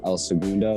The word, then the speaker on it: El Segundo: cool i've been playing with this girl and el segundo is that how you say it yeah yeah